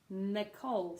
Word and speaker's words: Nicole: one we've got is Nicole Nicole so this is interesting because one of the only names that has no stress on the first syllable but stress on the second syllable so no see I